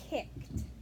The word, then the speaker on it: kicked: Yeah, that's tricky at the end because sometimes the ED sounds kind of like a T, and that can Yeah. sometimes trick people, but you were not tricked by that at all.